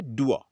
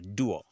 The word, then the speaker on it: dour: ये है डुआ, DOUR, डुआ.